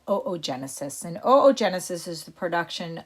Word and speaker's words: oogenesis: got oogenesis on the right it looks like ew genesis but it's pronounced oogenesis let's make a note at the top to